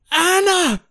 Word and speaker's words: Anna: Anna!